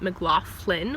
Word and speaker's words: McLaughlin: because I'm Irish and my last name is McLaughlin, but my family, or at least my part of my family, pronounces it McLaughlin with a soft sound.